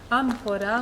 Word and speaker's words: amphora: amphora, Morpheus, amphora. Amphora is the correct pronunciation.